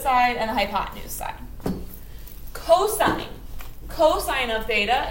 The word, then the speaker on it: cosine: and a hypotenuse cosine cosine of theta it's abbreviated cos still pronounced cosine theta and the cosine